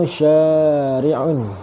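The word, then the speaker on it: شارع: Okey, perkataan pertama syari'un dan syaritun. Perhatikan pada huruf shin. Syari'un mahakatul qiraah dia ialah tawilah, panjang.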